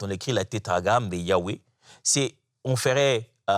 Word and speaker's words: Yahweh: Donc, c'est pourquoi Yahweh, c'est la plus proche de façon de prononcer cela. Mais il semblerait que la prononciation exacte n'est pas connue.